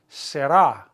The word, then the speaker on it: será: Será. Será. That old song. Lo que será, será. Será. Accent on the A.